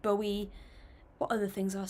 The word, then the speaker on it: Bowie: I've said David Bowie, which is wrong. People told me it was David Bowie.